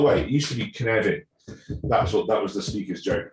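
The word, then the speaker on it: Cynefin: And I'm allowed to say Knevin because I'm Welsh, so much like Dave Snowden, I can actually pronounce it properly.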